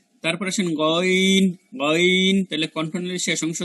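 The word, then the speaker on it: غ: এই আইন এবং হার উচ্চারণটা আমাদের একটু কষ্ট করে করতে হবে, এইগুলো একটু কঠিন, বাকি অক্ষরগুলোর উচ্চারণ অত কঠিন না। তারপর আসেন গইন, গইন।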